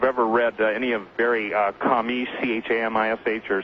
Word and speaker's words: Chamish: Yes, and interestingly enough, really interestingly enough, I don't know if you've ever read any of Barry Chamish, C-H-A-M-I-S-H, or some people pronounce his name Seamus, from Israel, but he's